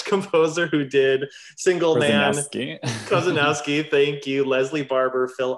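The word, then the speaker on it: Korzeniowski: He's represented and collaborated with composers like Abel Ko, oh my gosh, I'm gonna get his horrible name wrong, the Polish composer who did Single Man. Kozanowski, thank you.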